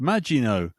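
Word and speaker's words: Maginot: Then we had Ian Spaceship Stead who said, I think it's pronounced Majino.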